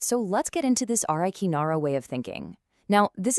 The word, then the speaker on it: Arreqqanarra: It comes from a framework called A Re Qu Na Ra. That's spelled A R R E Q Q R N A R R.